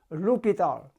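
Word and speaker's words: L'Hôpital: This word, H has no sound, so it's pronounced L'Hopital.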